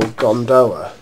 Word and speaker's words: gondola: Yes, it's pronounced gondola in the context of freight cars. Gondolas are those little boats that punters push along in Venice. It's pronounced gondola in the case of freight cars.